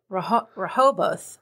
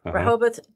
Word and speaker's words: Rehoboth: In Rehoboth, Rehoboth, Delaware, I think that's how you say it.